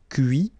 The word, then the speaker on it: cuit: Okay, so you can notice that even if I put this final T, so as usual, I don't pronounce it. Okay, conduit, construit, cuit, détruit, instruit.